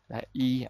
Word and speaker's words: 一: E, actually when you pronounce it, you will say E because 张 is first tone. Before first tone, this one you say E.